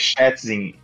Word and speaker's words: Schätzing: O sobrenome dele é impronunciável. É, pra mim. Quem que falou aí? É Frank Schätzing.